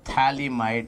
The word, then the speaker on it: phthalimide: Its name is phthalimide, not phthalimide. Thala. Thala, ho thala, I'm being the thala, not lala, it's thala. Be silent. Phthalimide.